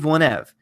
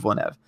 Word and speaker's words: Denis Villeneuve: on Jeremy stream and he corrected me it is a de Neve one of Villeneuve I don't pronounce it a correct every time but it's Nev not Nev I don't know why